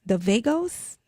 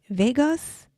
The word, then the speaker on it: vagus: The vagos, I don't know if I'm pronouncing that right. Nervous. The vagus is vagus.